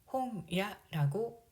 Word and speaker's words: 本屋: 책은 일본어로 홍이라고 읽습니다. 그래서 책방을 홍야라고 읽습니다.